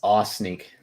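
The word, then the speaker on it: Ossineke: It's 2 syllables, actually. Only 2? Mm-hmm. It's Aw Sneak.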